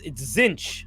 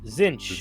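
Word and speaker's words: Tzeentch: It name is Zinch. Zinch. Zinch. The lord of change. The lord of change. So zinch is a weird one. Zinch is probably the most Eldridge of the Chaos gods.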